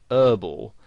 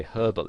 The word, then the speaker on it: herbal: would pronounce it whereas in british english you would pronounce the h and you'd say herbal essences and you might